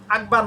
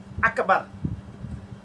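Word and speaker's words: أكبر: আকবার না। আকবার। আল্লাহু আকবার।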